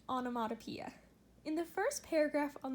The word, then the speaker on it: onomatopoeia: I know that's a weird word but it's pronounced onomatopoeia in the first paragraph on this page is